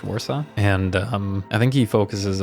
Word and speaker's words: Warsaw: Polish pronunciations here, but I think that's Warsaw is how we would pronounce it in English, Warsaw.